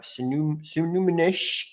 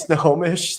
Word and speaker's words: Snohomish: We have Sunumanish County. If I butchered that. I think it's like Snohomish or something. This is Snohomish.